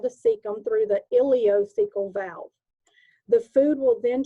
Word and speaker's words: ileocecal: called the ileocecal valve it's called ilio from the ileum cecal from the cecum ileocecal valve right here okay at